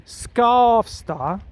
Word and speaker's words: Skavsta: So for example, an S and a K could be Skavsta, like SK.